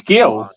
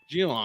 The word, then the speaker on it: Geelong: Who's Gil? Geelong. Oh, Geelong. Oh, here we go with the Geelong.